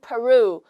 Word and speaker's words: Peru: It is in Peru. 우리는 페루라고 하지만 Peru라고 영어로는 발음을 하시면 되겠어요.